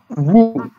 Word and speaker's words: vous: See, And the next one is woo. yes, who, do not pronounce S.